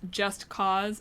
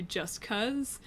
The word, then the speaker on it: Just Cause: So the reason we know it's pronounced Just Cause as opposed to Just Cuz is because it's named after the U.S. invasion of Panama mission, which was called Operation Just Cause.